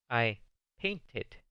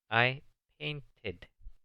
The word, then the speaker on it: painted: I painted. Yo pinté. Note que en esta sí se pronuncia la E. I painted. Porque termina paint en una T.